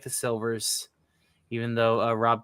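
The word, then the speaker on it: Sylvers: I guess I thought I Is it pronounced slivers? Silvers. The Y is an I. Silvers.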